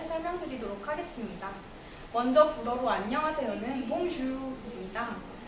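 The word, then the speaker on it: bonjour: 먼저 불어로 안녕하세요는 봉주입니다. 우리가 흔히 봉주르라고 많이 알고 있는데요. 르까지 발음 안 하고요.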